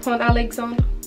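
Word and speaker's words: Pont Alexandre: Oh, Pont-Alexandre.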